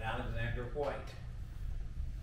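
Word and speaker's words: Alexander Whyte: hearts a great preacher by the name of Alexander White still with a Y but pronounced with a nine young preacher came in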